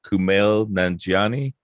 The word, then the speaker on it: Kumail Nanjiani: at and correct me if i'm saying his name wrong kumail nanjiani yep that's it yeah okay so i was